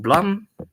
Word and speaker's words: Blame!: plant this bill uses building blocks basically it's pronounced Blum yes because it's used uh as a sound